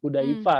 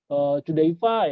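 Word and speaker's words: Chudaifa: Ya sebenarnya sih kalau di istilah sebenarnya kalau ejaan nih, kita ngomongin ejaan, CH itu kan dibaca H aja ya, Mmm, Hudaifa gitu ya.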